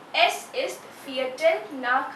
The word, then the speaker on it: nach: Nach. CH. The pronunciation of CH is like K of Hindi alphabet. K. So nach means after or past.